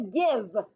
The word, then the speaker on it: give: Everyone say give. Let's sound out give. The E is silent. Do we hear the E sound? No.